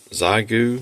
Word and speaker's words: Xiegu: is my newest toy my zyu I think is how it's pronounced g90 um I've got